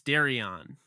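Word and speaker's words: Derion: his first name wrong is it Darion or Darion it's Darion Darion okay I've heard it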